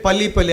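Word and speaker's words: 빨리빨리: their advantage in fact they call it poly poly I don't know how to pronounce it but it's spelled PIL Li poly poly which means quickly quickly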